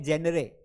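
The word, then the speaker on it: genre: बेटा यह गेंद्रे नहीं है। गेंद्रे पढ़ोगे ना तो दिक्कत हो जाएगी। है ना? मुन्नी भी तुमको फ़ नंबर नहीं देगी। तो यह गेंद्रे नहीं है। दैट इज़ कॉल्ड जेनर या जॉनर। आपको जो भी पढ़ना हो। जेनर भी सही है। आप जॉनर भी बोल सकते हैं।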